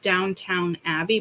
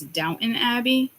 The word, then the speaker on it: Downton Abbey: sort of don't don't I heard Downtown Abby but it's Downton Abbey so again you might